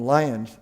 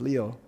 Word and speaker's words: Lyon: and and he's taken Peter Waldo came from Lyons it's pronounced lio France and in vigilantes leo that's his real